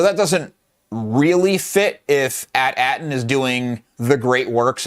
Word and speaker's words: AT-AT: IG Kevin says they say at in Empire, not AT-AT. Ha, but to each their own. I think it's funny how it's said in different ways. Yeah, I don't know why, but at always sounded stupid to me, so I say AT-AT because it is the initials.